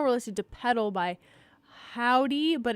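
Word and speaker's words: Hovvdy: we have heard, let's see, well, right now we're listening to Pedal by Howdy, but it's spelled H-O-V-V, W.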